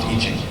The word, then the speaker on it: I Ching: It's spelled I Ching, but it's pronounced I Ching.